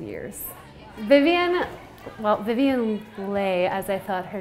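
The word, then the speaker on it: Vivien Leigh: And then come to find out, I've never actually heard her name pronounced on film, and it's actually Vivian Leigh.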